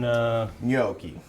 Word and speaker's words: gnocchi: Kevin and I both said it differently, but how do you pronounce that Parisian? Gnocchi.